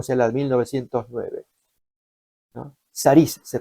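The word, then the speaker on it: סריס: Saris se pronuncia.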